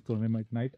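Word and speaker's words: trondhjemite gneiss: It's a very complicated spelling and pronunciation is Trondheimite gneiss.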